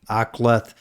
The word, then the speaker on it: Aqlath: The ordnance took a direct here from the Aklath artillery. It's spelled Aqlath.